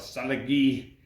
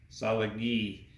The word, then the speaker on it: Cherokee: syllable based and so when we say Cherokee they pronounce it kind of a salad gee each of these characters is one sound so Cherokee solid ghee and so for most